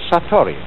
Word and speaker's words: satori: is in japanese and then it is called satori i'll write that down it's an unfamiliar word